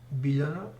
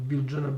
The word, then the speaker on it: Biljana: Lje is natural speaking sound. It is created by speaking two letters. Faster and faster, so L and Y, actually J in Serbian, J is pronounced as Y in Serbian, so if you go you will end up with Lje.